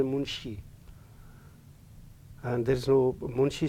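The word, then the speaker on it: Munchi: but you will find in the list m-u-n-c-h-i and it will be pronounced as munshi and there is no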